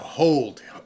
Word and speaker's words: HODL: Well, there's a whole bunch of people who talk on Twitter about this, and it's HODL, hold. They just spell it differently.